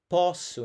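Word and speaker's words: posso: Now the reason why I think this is the case and pronunciation wise it changes. There's a word that's p o ss o. That's the word pu and it means I can.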